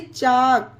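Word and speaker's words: chalk: एच ए एल के चाक वा टक फोक योक चौक ये सारे वर्ड में के से पहले एल है इसीलिए एल साइलेंट है यहां पर आप पढ़कर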